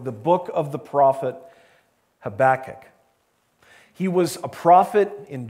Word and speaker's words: Habakkuk: already identify with the book of the prophet habakkuk and by the way pastor chris and i